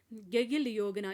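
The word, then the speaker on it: गाडगिल योजना: question number seven है हमारे पास गैगिल योगना इसमें डी साइलेंट रहता है वि प्लान वि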